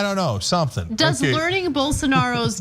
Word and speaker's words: Bolsonaro: Bolsonaro. Yeah. Bolsonaro.